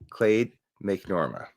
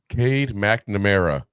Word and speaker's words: Cade McNamara: Wasn't sure whether to start McCarthy or Clade McNorma at quarterback. Who taught you how to read names? Cade McNamara.